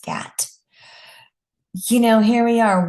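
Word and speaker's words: GATT: We had the international general agreement on tariffs and trade which is GAT. I think it's pronounced GAT.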